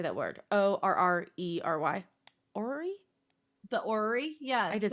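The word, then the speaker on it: orrery: has how do you say that word o-r-r-e-r-y Ori the Ori yeah I did say that right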